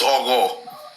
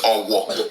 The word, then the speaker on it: Ogo: So, and clearly the name is Ogo. So the Yorubas of today that cannot pronounce GH, they call it Owo. It's Ogo, respect.